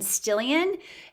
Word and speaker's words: Stillian: Again, I am Stillian. It rhymes with million.